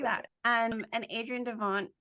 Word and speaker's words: Devant: that um and Adrian Devon did I say your name wrong because it's like that's that's correct okay and Adrian Devon